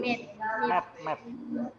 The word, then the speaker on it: met: my family can be met. Can be met. Ya, bukan meet ya. Kalau meet itu E-nya 2. Kalau E-nya 1 dibaca met ya.